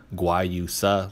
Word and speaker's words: guayusa: You're probably looking at it thinking that that's not how that's pronounced, but guayusa, look it up.